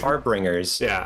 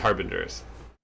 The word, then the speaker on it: harbingers: I thought it was Harbingers maybe, but it's been Harbringers. I think it only here. I think it's Harbingers is the correct pronunciation.